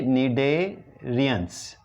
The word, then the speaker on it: cnidarians: सी silent है, निडेरियंस।